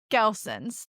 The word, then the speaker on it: Gelson's: So would you say is it a Gillian's or how do you say it? Gelson's. Gilson's. Gelson's. GE. Gelson's.